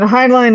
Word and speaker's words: Heinlein: I mean, Heinlein is how it's usually pronounced, I think. Heinlein. Yeah, y'all are right. I've been calling it Heinlein. I've been saying his name wrong my whole life.